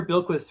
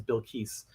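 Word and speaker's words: Bilquis: gonna pronounce her name i've been calling her bill quist for a long time and then i found out her name is bill keiss so i apologize for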